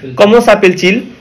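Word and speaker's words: Comment s'appelle-t-il: এটা হচ্ছে উচ্চারণের জন্য, হ্যাঁ কমো সাপেল ইল না বলে এটা উচ্চারণের জন্য মাঝখানে টি বসাইতে হয়, ঠিক আছে?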